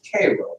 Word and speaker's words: Cairo: It's spelled Cairo, but they pronounce it Cairo there, right here.